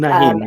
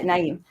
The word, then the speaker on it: Naeem: We have Priestess Laura Lynn and Priest Naeem. Am I saying it right? Um, Nahim, yes. yeah, Naeem.